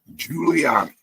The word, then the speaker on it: Giuliani: I think that's how you pronounce his name. Yeah, Giuliani.